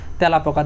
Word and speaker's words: তেলাপোকা: যেমন এখানে যদি আমরা একটা লক্ষ্য করি, যেমন এই যে তেলাপোকা, এই বানানটা যদি লক্ষ্য করি, এটার উচ্চারণ যদি বলতে যাই তেলাপোকা, দেখো এখন প্রথমে কি